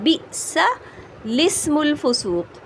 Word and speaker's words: بئس الاسم: لیکن کس طرح پڑھا جائے گا؟ بئس الاسم الفسوق، یعنی اس حمزہ کو بھی نہیں پڑھیں گے، اور جو یہ